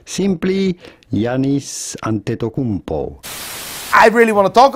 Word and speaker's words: Giannis Antetokounmpo: How do you go about pronouncing his name? Simply Giannis Antetokounmpo.